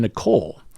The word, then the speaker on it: Nichole: Middle tier patron Nicole. She says the H is silent.